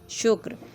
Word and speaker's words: شکر: شکر بولا جاتا ہے۔ اس کا صحیح تلفظ ہے شین کے اوپر پیش، کاف ساکن، رے ساکن، شکر۔ اس جیسے اور لفظ